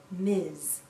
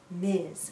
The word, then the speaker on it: Ms: we pronounce this as Miz Miz sounds like a z at the end Miz a woman can